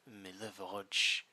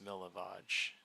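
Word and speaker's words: Milivoj: Yeah, it's spelled M I L I. Oh Jesus. Okay. V O J. Just for notes. Milivage.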